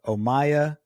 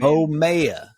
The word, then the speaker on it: Omayya: Today we have Omayya Atout, founder and CEO of Songlorious.